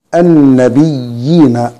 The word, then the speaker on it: النبيين: النبيين، سورة البقرة الآية رقم 61، الياء الأولى مشددة، مشددة بالليل، مشددة بالكسر، بعدها ياء مادية اللي هي عبارة عن رأس الحاء المقلوبة دي، النبيين، وعند الوقف النبيين 2 و4 و6 حركات اللي هي المد العرض للسكون.